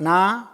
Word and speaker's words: know: शब्द है एक, कर्नाटक, कर ना अटक, कर ना अटक और कर नाटक।